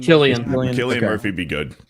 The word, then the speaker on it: Cillian: Or Cillian Jonathan Murphy. Majors. Cillian Murphy. Yeah. He'd be good. He'd actually be good too. Is it Cillian or Killian? How do you say it? Killian.